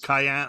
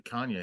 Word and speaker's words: Kanye: Cayenne. I never know his name. How do you say it first? Cayenne Pepper West. Cayenne Pepper West. Oh, she was married to Kanye.